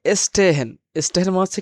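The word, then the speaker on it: stehen: হচ্ছে খেলাধুলা করা এবং যখন এস প্লুস টে থাকবে তখন কিন্তু তালবস্য স ত এর মত উচ্চারণ হবে যেমন স্টে হেন স্টে হেন যেমন স্টেট স্টে হেন এখানে ত অথবা ট এর মত উচ্চারণ আসবে এখানে বাক্য ভেদে এটা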